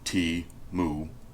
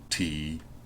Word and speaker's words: Temu: And yes, that's how you pronounce it, T-Mu, T-Mu.